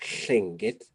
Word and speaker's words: Lingít: But when we're speaking this language, we should be saying Lingít.